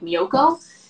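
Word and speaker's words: Miyoko: She's Japanese, so you would say it like how like a Japanese person would say. It's like Mioko.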